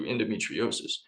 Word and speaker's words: endometriosis: But Meredith, and I'm always afraid I'm going to mispronounce this. Uh, is it endometriosis?